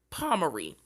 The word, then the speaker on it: Pomeroy: jesse the boston boyfriend palmeri i have been saying his name wrong all night and now that i have gotten some sleep i can say it right palmery now jesse was born